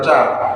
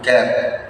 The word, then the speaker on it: cat: Tetapi kalau sudah dibin seperti ini ditulis cap membacanya bukan cap tapi cat.